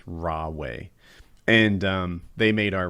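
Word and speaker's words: Huawei: company named it's it starts with an h but i think it's pronounced raw way and um they made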